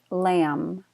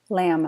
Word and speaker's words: lamb: on the ribs lamb the B is silent lamb lamb a meat but mmm